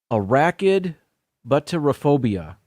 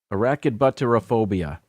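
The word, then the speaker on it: arachibutyrophobia: I think I can pronounce this because I have it spelled phonetically over here. Arachidbutterophobia. Arachidbutterophobia.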